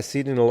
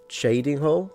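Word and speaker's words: Cheydinhal: Is that how it's pronounced? Shading hole. I had no idea. Shading hole. All right. Thank you for the correction.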